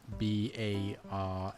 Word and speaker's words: bara: So bread is B A R A bar and then the R is a little bit more like a like very it's like subtle.